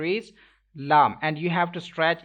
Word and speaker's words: ل: Don't make echo end of this letter like on meme, as well as don't take sound into your nose. You will have to pronounce it lam.